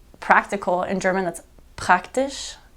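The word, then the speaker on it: ich: in English you'd see I CH and it looks like itch or dick but it's it's a much softer like ish like hi it's nice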